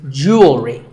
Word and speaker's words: jewelry: Word number 44 is jewelry. It's spelled differently in American and British English, but it's pronounced the same. Jewelry. Jewelry. It's not jewelry and it's not jewelry. It's jewelry.